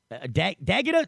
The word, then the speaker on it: Dagda: are cool it's D dag Daga dagda dagda I I kept saying deata it's dagda Aztec in I told